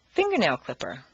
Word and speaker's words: fingernail clipper: Leave the stress on the first word, fingernail clipper.